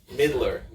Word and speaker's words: Midler: wonderful Lesley gore death Midler Midler I admit like a baseball mitt yeah I know that